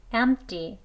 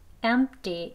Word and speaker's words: empty: 그리고 쌍디귿 소리가 더 많이 나는 empty, empty 이렇게도 발음을 합니다. 그래서 이 단어의 발음은요, 세 가지가 될수 있어요. empty, 트 소리, 그 다음엔 empty.